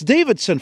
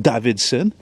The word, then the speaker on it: Davidson: And, yeah, it's Davidson, for Christ's sake, like a fucking Harley Davidson, not Davidson.